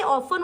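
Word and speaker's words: often: इ एन होता है तो वो ऑफन लोग पढ़ते हैं ज्यादातर मोस्टली लेकिन ये ऑफन होता है टी इसमें साइलेंट होता है ऑफन लीड करता है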